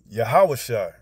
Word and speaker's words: Yahawashi: And if you go look up that name, Joshua, then you'll see it's pronounced in the Hebrew, Yahawashi.